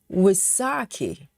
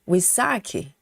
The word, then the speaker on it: Wysocki: Dragon lady says Charles Woki's last name which is Polish is called Wisaki. Oh, really? Wasaki.